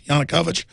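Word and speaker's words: Yanukovych: that yanukovich am I pronouncing that right guys yanukovich I am pronouncing it right as the media widely claimed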